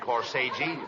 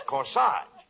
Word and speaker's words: corsage: each one of them a CORI no not Cori Cori that's corsage spelled a g e is pronounced like a as in corsage or or